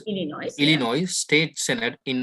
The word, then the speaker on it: Illinois: You pronounce Illinois Illinois.